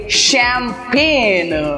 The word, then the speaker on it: champagne: इसको हम प्रोनाउंस करेंगे शैम्पेन, राइट? पता चला आप लोगों को? यस, इसको हम शैम्पेन, शैम्पेन की करेक्ट स्पेलिंग होती है CHAMPAGNE.